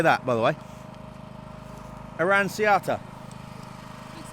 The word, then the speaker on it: Aranciata: Aranciata.